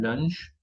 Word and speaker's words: lunch: Un lunch viene de una palabra en inglés, pronunciamos la H, donc un lunch.